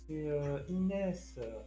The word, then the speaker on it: Inès: Quand on pin, quand on prononce mon pseudo. Je suis si triste. Mais non, c'est Inès.